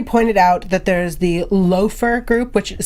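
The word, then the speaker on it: Laufer: we have somebody pointed out that there's the loafer group which is spelt laugher but according to Grimm wiki is pronounced loafer which I believe is actually the resistance is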